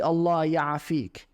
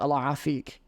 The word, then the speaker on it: Allah ya'afik: It's actually Allah ya'afik, but you tend to say it like Allah afik. You kind of join it all together, Allah afik.